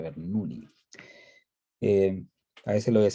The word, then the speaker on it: Bernoulli: de la ecuación de, la gente le dice Bernoulli, pero es Bernoulli, ¿ya? Es suizo-alemán, así que se pronuncia Bernoulli.